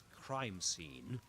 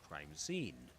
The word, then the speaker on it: crime scene: Yes, don't forget that that's crime scene, not crime scene. So, usually I struggle with my students saying com- pronouncing compound nouns as phrases. You know, like instead of saying cheese cake, they say cheese cake.